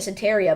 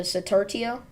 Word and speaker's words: Satartia: close to sat satartia I've been pronouncing it sataria but I realized there's a T close to the end there so satartia in Western Mississippi close to